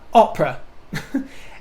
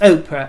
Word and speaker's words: Oprah: telly insists on calling oprah win oprah winfrey opera and insists on calling doria uh what all